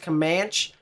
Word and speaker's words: Comanche: day very active day it's just pronounced comanche there's so many towns that have the same letters but are not pronounced the same way everyone needs to get